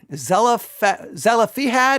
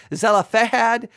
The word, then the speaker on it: Zelophehad: It's the daughters of Zelophehad, I think is how you say it. Zelophehad, Zelophehad, Zelophehad, and Numbers 27 and 36.